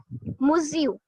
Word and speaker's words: Monsieur: Okay, now this is a French word for Mr. Okay, and correct me if I'm wrong, but it is pronounced as Monsieur.